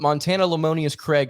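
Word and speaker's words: Montana Lemonious-Craig: intriguing of a pickup Montana lemonius Craig you heard that correctly that is a correct pronunciation on the Auburn Daily Show got one in the books uh but Montana lemonius Craig six foot two 185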